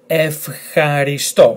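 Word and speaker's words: ευχαριστώ: Now it's not ev, it's F, because this letter here, letter he, does not belong to the list of letters and combinations that if they follow this combination, it's pronounced ev. So it's F. Then H, A, R, I. F, H, R, I. And then S, T, O. Emphasis on the last letter.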